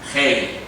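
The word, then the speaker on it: ה: Se escribe en español H-E-Y. Hei.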